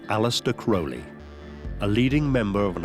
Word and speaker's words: Crowley: Some people pronounce his name Crowley and some Crowley. In his own writings, he said it's pronounced Crowley, it rhymes with holy.